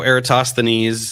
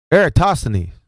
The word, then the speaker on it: Eratosthenes: tell us yes so eratosthenes uh you know which I find it hilarious that no flat earther can can pronounce eratosthenes what eratosity I